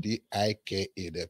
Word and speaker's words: Dike: D-I-K-E. You know, here they try to call it Dike, but it's pronounced as it's spelled.